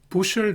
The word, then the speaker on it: bushel: 국제 농산물은 부셜 단위로 거래한다는 걸 아셔야겠습니다. 스펠링은 BUSHEL이지만 발음은 부셜입니다.